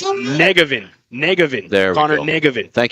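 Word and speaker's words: Njegovan: And Elizabeth with thanks here on the pronouncer as just a couple of local guys here, but it's Negevin.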